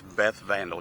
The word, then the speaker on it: Beth Vandal: Her name is Beth Vandal, just like it's spelled, just like a vandal.